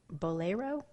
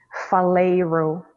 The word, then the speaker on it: Faleiro: The name of the author is Sonia Faleiro, that I know for sure. Sounds Brazilian, but she's in fact Indian. Bolero. Faleiro. Oh, spell it.